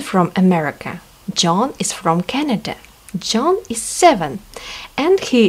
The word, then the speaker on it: Canada: Не Канада, а Canada произношение.